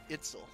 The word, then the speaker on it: Itzel: oh, dang it, I keep saying her name wrong. Itzel.